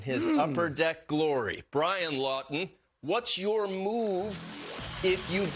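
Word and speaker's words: Laughton: he is available now you can have the last name lawton and not spell it the way that brian does l a u g h t o n i'm talking about scott lawton the flyers have had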